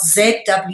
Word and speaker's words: zwaard: In English, a sword is obviously spelled S-W-O-R-D, but in Dutch, it's spelled Z-W-A-A-R-D, okay?